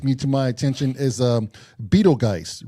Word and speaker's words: Betelgeuse: Yeah, somebody slapped me across the face and said it's pronounced Betelgeuse.